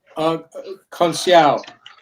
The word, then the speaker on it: Conceição: Navarrete is still the champion after draw with, how do you pronounce his name, Tom? Is it Conceição? Conceição.